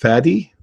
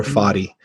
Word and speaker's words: Fadi: And you may have noticed my name sometimes is pronounced Fadi or Fadi. either one. Fadi rhymes with daddy, Fadi rhymes with body.